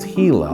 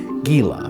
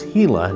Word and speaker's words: Gila: It is pronounced Hila. A lot of people mistakenly pronounce it Gila, but it's Hila, named after the Hila River.